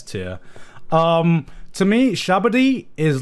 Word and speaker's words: Sabaody: It's Sabaody. I would put this at like a high A tier, low S tier. To me, Sabaody is like leveled up Jaya.